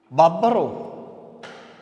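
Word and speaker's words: ܒܒܪܐ: Here the noun is bro. Bro means son. Bro means son. And the Beth, the particle is prefixed to bro. When the particle Beth is prefixed to bro, here bro, the noun, begins with the vowelless letter Beth. That's why the prefixed Beth is vocalized with futoho or a vowel.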